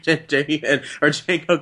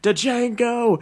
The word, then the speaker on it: Django: It's like, and that one hillbilly is like, "Django, Django." It's like the D is silent hillbilly, and shoots him in the head.